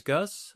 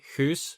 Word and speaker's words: Guus: So, yeah, my name is Gus. Um, or you can call me Hus, which is like how my name is pronounced in Dutch because I'm from the Netherlands.